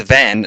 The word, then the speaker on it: Van: It's Van, not Vaughn from Final Fantasy 12.